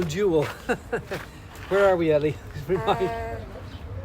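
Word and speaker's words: Nájera: Naha. Naha. Nava. Yes. I don't know how you pronounce a J in Spanish.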